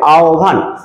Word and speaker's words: আহ্বান: আহ্বান, এটার উচ্চারণ হবে আহ্বান।